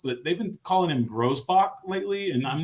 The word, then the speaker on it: Grousbeck: What vowel Grousbeck feels like the way it probably is. It's spelled Grousbeck, but I'm not surprised that the rich guy's telling me to pronounce it Grousbach.